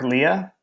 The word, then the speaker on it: Lea: the Googles but uh so Clark Leah I'm assuming is the pronounce pronunciation pronunciation the his last name is spelled l e a so Clark Lea he is the head